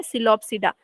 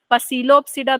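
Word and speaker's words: Psilopsida: सिलोप्सिडा, pteridophyta में सबसे पहले जो आता है सिलोप्सिडा, पी इज साइलेंट, है ना। पसीलोप्सिडा तो नहीं बोलोगे, क्या बोलोगे? सिलोप्सिडा।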